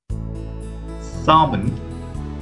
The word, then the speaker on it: salmon: Try to pronounce these words without pronouncing the sound of L. Salmon, palm, puff, chalk, talk.